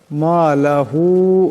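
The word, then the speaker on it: مالهُ: মালাহু, এখানে হার উপর মদ আছে, এটাকে বেশি লম্বা করিয়া পড়তে হবে। আন্না, এখানে নুন মুসাদ্দাদ, এখানে নুন মুসাদ্দাদের একারের পরিমাণ গুণনা করিয়া পড়তে হবে। ইয়াহসাবু আন্না মালাহু আখলাদা কাল্লা লায়ুমবাযান্না ফিল হুতামা।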